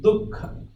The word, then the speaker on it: Dukkha: But it is pronounced as Dukkha. Dukkha.